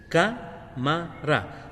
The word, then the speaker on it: cámara: a encontrarla y es cámara acá en la palabra cámara el acento lo lleva en la antepenúltima sílaba o sea aquí miren camara suena más fuerte la sílaba acá Entonces será una palabra